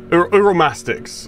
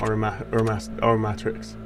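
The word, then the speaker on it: Uromastyx: Uromastics, I guess, is how you pronounce it, not Uromatrix.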